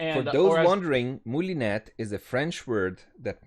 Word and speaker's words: moulinet: And if you're thinking of how to pronounce it in French, the technical pronunciation is moulinet, Moulinet. I believe. Yes. Yeah. Not moulinet, apparently. Yeah, I heard some English speaking people say Moulinet. Right, But yeah? yeah, it's Moulinet.